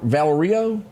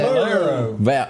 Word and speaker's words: Valero: pronounce that word valer Valerio is that how you say that Valero Valero okay I was close that's you know I